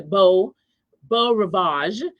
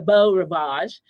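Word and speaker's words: Beau Rivage: at a MGM hotel which is called the Bo Ravage. It's spelled B E A U R I V A G- E. the Bell Ravage um in Beluxy, Mississippi.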